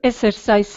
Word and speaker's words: exercised: Have you exercised at all? Good rising intonation. Exercised, again with the Z, the sneaky Z sound.